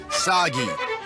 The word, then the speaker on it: Saggi: Cliche burden boy of action who will save us all is named Saggi. This is kind of overdue, but I'm soggy. Rhymes with Saki.